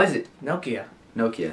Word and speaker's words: Nokia: deserve it's not no it's not noia it's Nokia Nokia okay Nokia no you say with an accent Nokia Nokia okay then how is it Nokia Nokia like Nokia Nokia